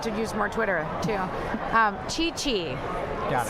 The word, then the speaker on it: Chi Chi: Chi Chi. Got it. Sounds C-H-I, like... C-H-I. Spelled like I think it sounds. C-H-I, C-H-I.